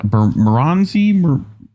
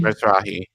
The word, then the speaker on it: Mizrahi: Marazi? Marazi? Mizrahi. Mizrahi, that's it.